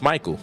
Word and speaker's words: Michael: You have the word like Michael, which should be Mikhail, but it's pronounced Michael. CH is pronounced with a K.